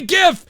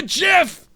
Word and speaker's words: GIF: to the dark side it's not a gift it's a Jeff that's right Mauro Ranallo he's pronouncing it the way it was intended by its creator god dude he said